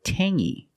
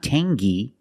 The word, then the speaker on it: tangy: was too clingy or this word Tangy we have the same sound it's the nasal sound only Tangy it's not Tangy it's Tangy Tangy is a flavor